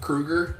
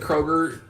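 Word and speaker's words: Kroeger: Kroger right you know his last name is actually pronounced Krueger Krueger but somebody said Kroger like like Freddy yeah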